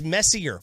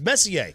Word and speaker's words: Messier: It's like if somebody comes along and says their last name is Messier. No, I'm sorry, it's Messier.